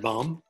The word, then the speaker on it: bomb: up it turns out if m comes before b then the b is silent but not always how